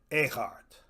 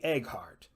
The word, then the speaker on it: Eghart: Eghart. You'll be tempted to say Egghart, Resist the temptation and find that GH consonant way in the back of your throat.